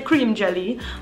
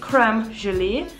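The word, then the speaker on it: crème gelée: We will say cream jelly, but I believe it's like pronounced creme gelee.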